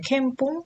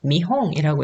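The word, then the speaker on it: 見本: 이거 뭐 견본이기 때문에 캠뽕 어떻게 읽나라고 하시는 분들이 있을 수도 있는데요 자 여기에서는 미홍이라고 했습니다 견본이라는 뜻인데요 앞에 훈독이기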